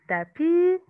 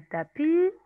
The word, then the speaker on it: tapis: Et c'est une table, un tapis. Faites attention, on ne prononce pas le S. Un tapis, une nappe, une nappe.